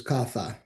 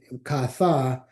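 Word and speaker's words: caza: And the example that's a classic difference there you can see below is casa versus katha. Kasa with the S as a verb means to marry and with the Z katha means to hunt. And so the S versus the Z in Spain, that's a difference that changes the meaning of the word.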